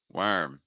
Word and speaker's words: worm: warm worm worm worm it's like comparing War and were wor were worm worm worm worm again if you could say war and were then you could say worm and worm hopefully our next pair